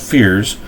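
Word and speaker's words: Feyrs: pronunciation of that one fears fears pronounced fears are created from the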